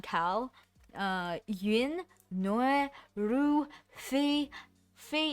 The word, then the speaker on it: Phe: Fei is spelled as PHE.